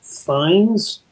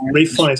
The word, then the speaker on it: Fiennes: My pick that year was Ralph Fiennes, or Ralph Fiennes, however people want to pronounce it, but it's Ralph Fiennes.